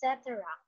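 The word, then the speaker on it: et cetera: um how do you how do you pronounce it etc oh yes yes it's cetera okay very good that is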